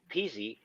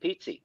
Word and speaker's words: Pizzi: you know that I it's like pizza with an e on the end we do say that